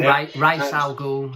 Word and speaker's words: Ra's al Ghul: Is it Ra's al Ghul? Yeah, am I pronouncing it right? Or Ra's al Ghul, however you want to pronounce it.